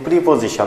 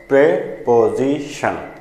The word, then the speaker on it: preposition: আজকে হচ্ছে প্রিপোজিশন। এটা কিন্তু প্রিপোজিশন না, এটার উচ্চারণ দুইভাবে করে, একটা হচ্ছে প্রেপোজিশন, আরও সঠিক উচ্চারণ আছে সেটা হচ্ছে প্রপোজিশন।